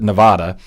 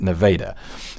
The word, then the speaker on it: Nevada: A lot of people pronounce it Nevada, but if you live there, you'll start pronouncing it Nevada.